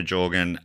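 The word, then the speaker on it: Jørgen: 1565, Jorgen, I'm saying Jorgen, I should have looked this up. Jorgen spelt with an O with the line through it. It does something to the O sound.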